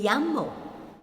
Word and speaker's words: llamo: You say, me llamo. My name is. Then you mention your name. We say it again. Again, the double L there is pronounced as Y. Me llamo.